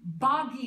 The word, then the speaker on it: Boggy: porter show being from boggy depot oklahoma i think i pronounced that right b-o-g-g-y kept thinking it should be boogie same thing i'm sure